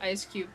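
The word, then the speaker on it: Eiscue: It's pronounced ice cube.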